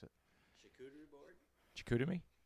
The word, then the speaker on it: charcuterie: Nick can say that one because he's got a mic and I can't pronounce it. Charcuterie board? Chicoutimi? Charcuterie.